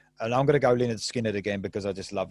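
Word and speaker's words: Lynyrd Skynyrd: i'm going to go leonard skinner again because i just love him and simple man 1973 again same album uh pronounced linda skynyrd the funny thing about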